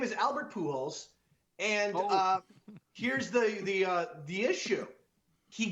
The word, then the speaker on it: Pujols: Albert Pujols. Because even though his name is spelled like Pujols, you pronounce that fucking fucking thing in Spanish, you pronounce it poo.